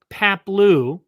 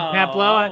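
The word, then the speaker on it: Paploo: You said Paplo. All right. Maybe the O is pronounced O and not Oo. I don't know, but it's Paplu.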